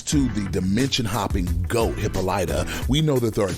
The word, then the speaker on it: Hippolyta: protection spell thanks to the dimension hopping goat hippolyta we know that there are different magic sources in the universe which really should be pronounced hippolyta considering they're doing the whole amazonian mythos dc